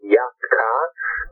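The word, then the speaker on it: Yat-Kha: And the other great artist I would urge you to check out is Yatka, which is spelled YAT, and is a solo singer that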